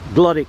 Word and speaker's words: Glodwick: So we're heading towards Glodwick Road Station now, or as they used to say in Oldham, Glodwick Road. They used to pronounce it Glodwick.